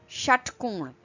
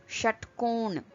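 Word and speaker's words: षट्कोण: So if you pronounce shall or shit, the same sound is produced. The very rare Hindi word starting with sh is shatkon, shatkon, okay, which means hexagon, hexagon.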